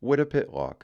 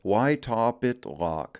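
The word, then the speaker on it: Wytopitlock: There is only one correct way to say Wittapitlock, and that is Wittapitlock. But by gory, it's fun watching folks from away trying to say something to the effect of, why top it lock?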